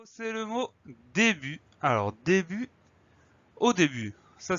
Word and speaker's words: début: Alors début, au début, ça s'écrit tout simplement D-E accent aigu et la deuxième syllabe bu, B-U-T. On a une lettre muette, le T, qu'on va retrouver dans le verbe débuter.